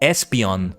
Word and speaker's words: Espeon: pronunciation but with Espeon I like it because I realize it's supposed to come from esper that psychic part right so Espeon anyway the other three